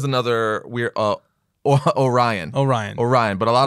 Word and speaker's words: Orion: love of God yes some people say Orion though yeah like an Oreo people are like well those people are just flat wrong but it is it